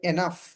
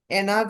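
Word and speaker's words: enough: কি হবে এনাফ, মিলিয়ে পড়লে হবে এনাফ, এনাফ, বুঝছেন? এনাগ হওয়ার কথা ছিল এনাগ, কিন্তু এটা জি এর উচ্চারণ না হয়ে এনাগ অথবা এনাজ হওয়ার কথা ছিল, কিন্তু এটা এফ বা ফ এর মতো উচ্চারণ হয়ে গেছে, এনাফ, যথেষ্ট।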